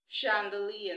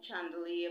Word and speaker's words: chandelier: sure we equally have Chandelier chandelier not chandelier but chandelier we have also shirad